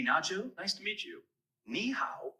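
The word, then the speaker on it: 你好: nice to meet you niow is pretty straightforward to pronounce it sounds like me how just make sure to keep the knee part high and then go down and pitch on the how give it a try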